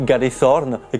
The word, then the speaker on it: Galethorne: coup, donc ça fait Galethorn. Et comme du coup j'ai mis un E à la fin, normalement c'est censé se prononcer Galethorne.